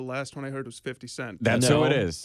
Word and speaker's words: 50 Cent: Uh, you know, the last one I heard was 50 Cent. That's who it is. It's saying it wrong. It's his brother Fred. It's his It's his brother Fitty.